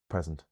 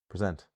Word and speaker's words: present: When I look at this English word, how can I tell if it's present or present? It could be either.